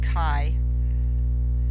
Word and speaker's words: chi: in Greek as Kai it's pronounced Kai as in kite without the te on the end of it so it's a long I Kai that's called Ki